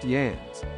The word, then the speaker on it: Jan: As far as guys go, there was me, Irish man named Kevin, and two Danish men we called the two Jans, pronounced Jans.